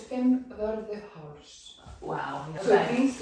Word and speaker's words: Fimmvörðuháls: I don't even know how to pronounce this trail. No, it's Fimmvörðuháls.